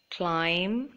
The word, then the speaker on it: climb: So the B is silent in all of these words. So let me read them out to you. Doubt, debt, climb, comb, thumb, and tomb.